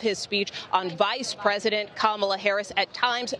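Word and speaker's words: Kamala Harris: the bulk of his speech on vice president kamla Harris at times mispronouncing her name take a listen for three and a half years lion Camala Harris has been the ultra liberal driving force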